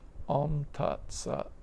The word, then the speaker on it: Om: is the um and om actually is another example of Sundi uh om like like the letter O what we call uh o is combined of a and u so the letter what